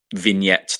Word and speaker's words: vignette: The idea is that these vignettes that are playing, I think that's how you say it. Yeah, it is how you say vignette.